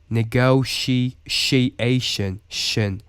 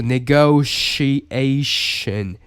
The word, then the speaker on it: negotiation: So it's not like a negotiation. It's negotiation. And there's like really long, kind of curvy, like letter too. Like it looks like a deformed version of S, but this shows the pronunciation as well, and you can pronounce like sh, right?